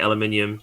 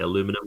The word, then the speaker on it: aluminium: it'll just be um I say aluminium because I say it right but you guys say aluminum which is what the